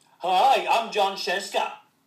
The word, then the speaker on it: Scieszka: what hi I'm John chesa rhymes with fresa I'm so funny are you kidding